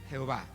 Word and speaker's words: Jehová: ve o ya voy el término jehová procede de la fusión de las consonantes del tetra grama throne con las dos vocales de la palabra ado nay y eloy formándose la palabra ya ve que ya castellanizado lo sonaría como jehová ahí vemos el ejemplo